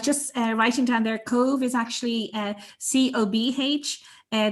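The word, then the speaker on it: Cobh: uh writing down their cove is actually uh c-o-b-h uh the bh like my name is pronounced like a v an irish and its former name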